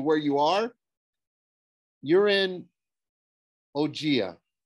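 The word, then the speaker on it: Ogygia: you are you're in ogea she pronounced it like oh g uh is that near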